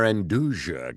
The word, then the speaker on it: Nduja: And their Induja Calabrese spread, I'm mispronouncing it every time, is No, you are saying it basically beautiful.